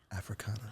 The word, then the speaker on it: Afrixana: And am I gonna say it right for me? Africana? Africana. Okay, because I didn't say Massachusetts wrong.